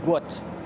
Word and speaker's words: Gout: It's pronounced to rhyme with pout. His name is Gout.